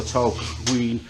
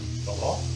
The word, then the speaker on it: Tolquhon: Obviously you think that the QU were there, so Tolquhon, but maybe Tolquhon? Tolquhon? Tolquhon, take out the Q and the U.